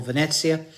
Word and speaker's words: Venezia: They are saying Venezia.